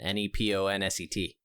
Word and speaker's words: Neponset: since you're on the third story of the Neponset River I believe is how you pronounce it um uh Dr Dallin is a